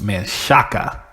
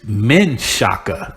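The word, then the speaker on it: Manchaca: man there's history call man Shaq that's what I was taught growing up because it's easiest way to say it but it's really pronounced man shaka and now it's men shaka they changed it to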